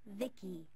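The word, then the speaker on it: VICI: your exploits cool by the way i'm v-i-c-i pronounced vicky my creator was bibi secto he's what you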